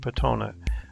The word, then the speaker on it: Petone: And this is a town of Petone, that's how the local residents pronounce it, on the other side of the bay.